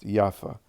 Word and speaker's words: Jaffa: This town was later called Jaffa, pronounced Jaffa.